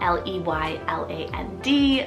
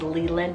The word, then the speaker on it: Leyland: side is Leyland spell l-e-y-l-a-n-d Leyland this could also be pronounced I guess as Leland as well but I like Leyland I